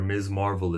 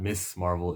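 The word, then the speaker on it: Ms. Marvel: this was them trying to show you where Ms Marvel is mrs. marble this it sounds like I said that oh by the way the way to pronounce her name is not miss Marvel it's Ms marvel I can't do a video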